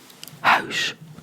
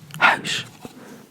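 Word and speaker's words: huis: but not the same in Dutch it would be house house this is a u this is a u this would be house so a u and an I combined it makes an sound I'm trying to compare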